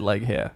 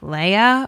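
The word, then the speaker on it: Laoghaire: what I called her but it is not it is not like here it is L even even when you listen to the audio books it sounds like Leia or something so so we're just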